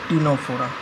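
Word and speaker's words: Ctenophora: जो ऑर्गेनिक सा सिले टीनो फोरा इसको टीनो फोरा पढ़ते हैं बायो नाम पढ़ने में आपको दिक्कत हो सकता है इसलिए मैं सारा नाम आपको प्रॉपर वे में प्रोनाउंस करके बता रहा हूं पहला क्या है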